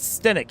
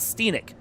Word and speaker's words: Stenic: And it actually is Stenic. It is not Scenic like it looks.